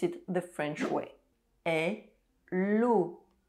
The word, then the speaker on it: hello: Hello. Hello. Hello. And yes, in French, the letter H is silent.